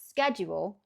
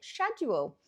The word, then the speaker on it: schedule: But I would pronounce it purely based on the word school.